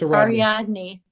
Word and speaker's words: Ariadne: Bakus and uh I'm going to attempt to pronounce it. Ar Arad Aradney. I think it's Ariadne.